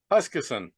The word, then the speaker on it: Huskisson: I pronounce this correctly. I apologize. Huskisson. It's Huskisson.